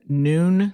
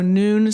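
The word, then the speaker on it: Nuun: part of her fluid replacement I often recommend noon Sports tabs that's spelled nuu n Sports tabs that contain roughly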